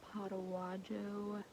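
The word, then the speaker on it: Potaywadjo: We stopped for a nice break at Potawajo, that's how you say it, Potawajo Spring, and there is a lean-to like 150 yards that way.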